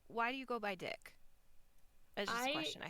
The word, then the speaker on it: DIC: No, I was like, okay, do they go by like DIC? So I even looked up guides. Like I couldn't find a pronunciation guide, obviously, but I found somebody talking about the history of Dick Entertainment, and I looked up a few things, and I was like, no, they go by Dick.